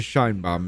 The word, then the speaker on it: Sheinbaum: And do you realize Claudia Shine Bomb is a Shine Bomb? You have to say IT RIGHT. SHINE BOMB.